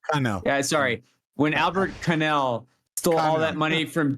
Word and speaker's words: Connell: But right now, no, it's French. It's French. That's French. Albert Connell. What? You Cannell. fucking asshole. Pronounce it correctly, asshole.